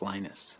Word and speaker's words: Linus: venus torvalds came along linus or linus what's exactly your preferred pronunciation um when i speak swedish it's venus when i speak finnish it's linos when i speak english it's linus and i really don't